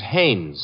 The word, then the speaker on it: Haynes: Haines. Oh, Haynes. Yeah, do you know him? Well, there's a fella named Hines used to fish out here. No, not Hines. Haynes.